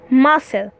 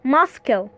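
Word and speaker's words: muscle: مثال عشان نفهم اكتر زي كلمه ما ما ما مس حرف الاس اهو وبعده حرف ايه؟ السي بس حرف السي هنا ايه سايلنت مش بننطقه ماسل ماسل ما قلناش ماسكل اوكي قلنا ماصل وبكده انتهى الفيديو او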